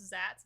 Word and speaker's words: Xat: embedded chat box called, I think it's pronounced Zats. It's XAT.